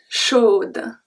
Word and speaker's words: chaud: It will be chaud, froid. I would not pronounce the last letter, which is D.